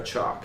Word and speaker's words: Chalke: It says, actress Sarah Chalke pronounced it just like the chalk you use on a chalkboard, on a blackboard. Really? It's Sarah Chalke.